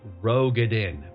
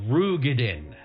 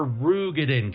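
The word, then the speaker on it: Roegadyn: You'll he'll you'll hear everyone calling these characters Rogedin because that's how it works. But the proper pronunciation is Rugadin. These are Rugadin characters. So you can you now you're you you're smart and you can correct people. It's not Rogade, it's Rugan.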